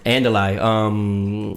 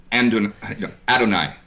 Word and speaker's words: Adonai: Andalai, off of Adonai? Yeah. Am I pronouncing it wrong? Adonai.